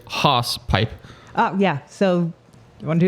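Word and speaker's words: hawsepipe: We'll go to the horse, but phonetically pronounced here as hoss pipe.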